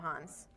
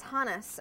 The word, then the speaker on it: Hannes: ski Meister Hannes Schneider Hannes am I've been pronouncing it wrong this whole time and you're just telling me now Hans I'm sorry I was thinking Hannes like you Hans I know it's Hannes okay so Hannes Schneider in 1939 from which